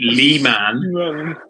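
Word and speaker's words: Leman: called Lehman Russ which looks like it should be pronounced lemon rice but it's not it's Lee Lee man um Lehman Ross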